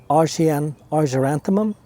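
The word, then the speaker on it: Argyranthemum: This is a Margaret Daisy or is it Arjanthemum? Argaranthemum is how you say it.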